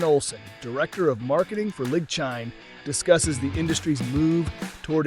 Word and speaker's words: Ligchine: Ryan Olson, now Director of Marketing for LigChine. Did I pronounce that right? LigChine.